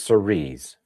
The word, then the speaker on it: Cerise: Google says Cerise, French for cherry.